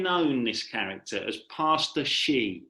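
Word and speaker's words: Hsi: He became known, this character, as Pastor Shi. I think that's how you say it. It's spelled H-S-I, Pastor Shi.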